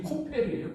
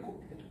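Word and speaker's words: כֹּפֶר: 콜타르 콜타르라 그러잖아요 콜타르 그것이 발음이 코페르예요 코페르 그런데 창세기 6장에서만 코페르를 역청으로 번역했지 다른 데서는 레길서나 이사야서나 욥기서나 다른 구약 성경에서는 다 핍값 숨값이라고 번역했어.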